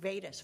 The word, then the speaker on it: Vadis: So now we're going to move to Vadis Road. Did I pronounce that right? Yes, that's correct, Vadis Road.